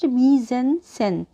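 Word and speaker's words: mise-en-scène: scene in a film M scene pronounced misen is a term used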